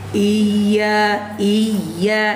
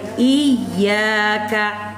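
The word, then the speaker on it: إِيَّاكَ: Bukan iya, salah. Kalau pakai iya, salah. Kalau iyyaka, betul. Saya ulang lagi. Iyyaka. Iyyaka itu artinya hanya kepadamu saya menyembah. Tapi kalau iyyaka, hanya kepada matahari saya menyembah.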